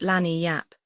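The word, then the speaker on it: lagniappe: They pronounce it lanni yap. It is Spanish, so they said.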